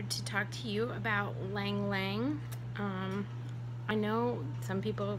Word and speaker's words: Ylang Ylang: we are here to talk to you about lang lang I know some people who pronounce that one yelling yelling but I'm pretty sure that why is silent